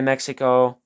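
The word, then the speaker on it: México: here and it says Hasbro de Mexico or Mexico actually is how you pronounce that. But, um I believe that is Spanish.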